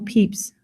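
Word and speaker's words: Pepys: algorithm magazine is Samuel peeps diary do you mind the pronunciation of his name and the way it's spelled they're rather different Samuel peeps was not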